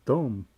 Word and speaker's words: dumb: probably think that dumb is spelled without a b. But it does don't sound like it's got a b.